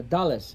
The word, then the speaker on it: Dulles: So, how do you pronounce that? Washington Dole. Uh, Dallas, it's from uh Dallas was a American politician.